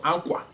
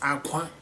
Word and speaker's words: akwa: So, akwa, you hear how I'm pronouncing it, akwa, not aqua, no, akwa.